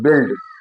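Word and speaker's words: build: जब यू आई के बाद ई डी एल टी आता है, तो उच्चारण ई होता है। जैसे बिल्ड, यू आई के बाद एल डी आता है, तो ई का उच्चारण है बिल्ड।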